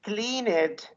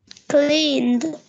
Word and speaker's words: cleaned: clean it no no when you say clean it clean it you you added an extra syllable I want you to say clean the cleaned not cleaned cleaned it says again Francis cleaned excellent office and realize